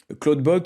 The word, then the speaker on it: Clawdbot: Et d'ailleurs, Cloudbot ou Open Clow, c'est pareil, je l'utilise en avec mon abonnement Cloud parce que du coup c'est pas donc Cloud Bot, c'est pas un outil de d'entropique hein, c'est